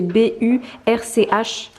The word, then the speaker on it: Burch: C'est B-U-R-C-H. Donc je crois que c'est Burch. Donc voilà, et bien évidemment, j'ai également craqué sur cette ceinture de la même marque.